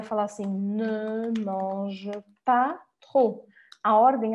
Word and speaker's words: trop: passar aqui para outra, que trop, a gente fala com o R do francês e o O bem fechado e não pronuncia o P, tá?